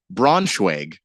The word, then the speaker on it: Braunschweig: Old Brunswick, also known as just Brunswick, or as the Germans say, Braunschweig. Braunschweig. Yeah, that's how they pronounce it.